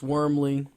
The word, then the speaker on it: Wormley: NFL draft the Tennessee Titans select uh Chris Wormley did I pronounce his name right yeah to Tennessee Titans